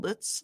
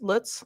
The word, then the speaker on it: Lutz: My family lived in Litz. Lutz, Lutz, Loots. I don't know how to pronounce it. Okay. Yeah. Loots. And that's how people say here.